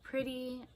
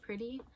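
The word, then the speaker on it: Pritti: And then we have these Lululemon Pretty, P-R-I-T-T-I, I think is how you say it, Pretty leggings.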